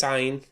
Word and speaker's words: عين: Okay, so practice ayn, especially the pronunciation. Do your best. Try to express disgust, or try to sound like a monster if you want. Just try to make that sound from your throat.